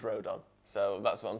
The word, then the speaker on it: Rodon: get with every transfer it's pronounced Road in I can't do this anymore I'm going Road down because the Welsh guy said it was Road up so that's what I'm